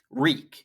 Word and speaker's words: Reek: Reek. It rhymes with freak.